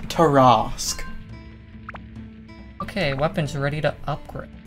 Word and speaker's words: Tarrasque: I'll have you know it's pronounced Tarrasque.